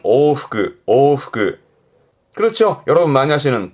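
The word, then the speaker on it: 往復: 발음은 오후그 오후 그렇죠 여러분 많이 하시는 복습 제가 강조하죠 복습하시는 거 발음은 후크슈 후크슈 앞에 한자는 숫자예요.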